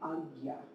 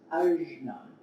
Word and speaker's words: Ajna: So I'm going to be pronouncing it agya, agya. I've also heard it very often pronounced ajna or anya.